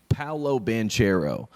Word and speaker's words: Banchero: the star of duke paolo banchero which is the american way to say the name